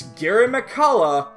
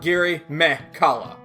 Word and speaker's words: Girimekhala: It's Girimekhala, not Girimekhala.